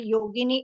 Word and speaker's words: Yogini: in the same way yogini is a version of saints beautiful and it rhymes with Linguini if you know what's